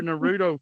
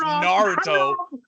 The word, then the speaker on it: Naruto: to break out your Nudo characters next week, bro. Naruto, you got to say it right. If we're going to mention the Hong Kong audience, it's Naruto.